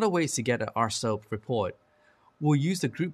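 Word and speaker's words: RSoP: policy we often compare an AR SOP report pronounced horse up to what you expect to be applied to that computer there are a lot of ways to get at our soap report we'll use the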